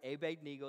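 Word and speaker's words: Abednego: about Shadrach mesach and Abed Neo that's right Abe Neo that's how you pronounce his name and in that we we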